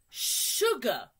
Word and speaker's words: sugar: Sugar. Sh-sh-sh. Sugar. Good. Not sugar. Sugar. Sugar.